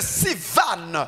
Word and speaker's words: Sivan: C'est celui de Sivan. Ni ya Sivan. Qui ça s'écrit S. Bakesonga S. I I V V A A N N.